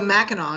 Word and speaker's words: Mackinac: which is a hop out of Michigan so Mao is how you pronounce that Ma oh you don't have you